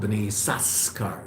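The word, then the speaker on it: בני יששכר: Well, it's called B'nai Yisachar, even though there's two sins, we only pronounce one.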